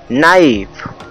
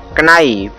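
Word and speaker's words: knife: के एन आई एफ ई नाइफ, न कि इसे पढ़ेंगे कनाइफ। के इसमें इसलिए साइलेंट कर दिया गया है क्योंकि के बाद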